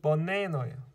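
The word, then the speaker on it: banana: 미국 사람들 강세 여기 있기 때문에 이것만 네로 제대로 발음하고 나머지 앞에 뒤에는 요거 뒤두 개는 슈화로 뭉갠다는 얘기예요. 그래서 버네너예요.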